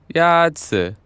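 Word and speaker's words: 鸭子: 鸭子 Is pronounced with a first tone. In Mandarin, there are 4 tones, which are essential to distinguish the meaning of words. The first tone is a high, level tone.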